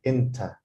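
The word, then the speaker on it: إنتَ: anna means and then because this class is in egyptian arabic it's pronounced inta this is you okay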